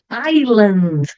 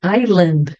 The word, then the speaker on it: island: termino no lurl Curl Island Island que que acontece aqui eu não pronuncio o s a letter s Ok então Island Listen